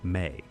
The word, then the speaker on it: me: And get this, the Sumerians wrote about something called the Me, pronounced May.